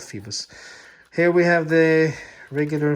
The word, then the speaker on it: Phoibos: out the first phoebus I really think it's pronounced Phoebus because if you gotta read it right off it would say fibers but I've seen other guys call them Phoebus in their reviews and I really think